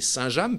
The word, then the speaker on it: Saint-James: la question de savoir si on dit Saint-James ou Saint-James, mais c'est Saint-James puisque c'est origine, bien sûr, le village de Saint-James, non loin du Mont-Saint-Michel.